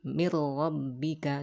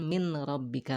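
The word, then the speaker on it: مِن رَّبِّكَ: Ya, menjadi mir rabbika, dibacanya menjadi langsung masuk ke ro. Mir rabbika, bukan min rabbika lagi, ya.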